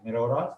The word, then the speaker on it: Morera: आज हमें थ्योरम करना है मेरोरास थ्योरम, यानी अब इसकी ये नाम है इस तरह स्पेलिंग है मेरोरास थ्योरम, इस तरह के इसको प्रोनाउंसिएशन MORERA मेरोरास थ्योरम।